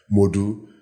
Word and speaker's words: Modou: So I take out the O when I was in the US because it was easier for the American people to say it, Modu.